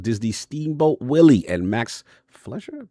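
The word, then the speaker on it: Fleischer: The 1930s animation style of Walt Disney Steamboat Willie and Max Flesher. Pronounced that right? Fumi games. Flesher.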